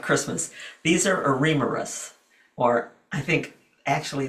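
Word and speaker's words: Eremurus: These are Ammeris or I think actually the correct pronunciation is Aramis.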